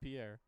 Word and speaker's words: Pire: Pierre, spelled P-I-R-E, but I did verify. Pronounced Pierre.